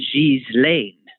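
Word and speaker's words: Ghislaine: an english pronunciation uh the proper pronunciation of ms maxwell's name is jeez lane but i don't think that's how she pronounces it and i swear i heard somebody say giesland the other and who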